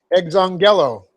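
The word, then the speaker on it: ἐξαγγείλητε: Okay, aorist active subjunctive, second person plural of the verb exongelo. Exongelo. I got to get the accent on the right syllable. Exongelo. That's E-K-Z. That's the X sound.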